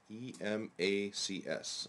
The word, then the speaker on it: Emacs: And what I'll do here is I'll just type in E-M-A-C-S. All these strange things, okay? This is just the editor which SWI Prolog has built into it. So, just type Emacs is how it's pronounced.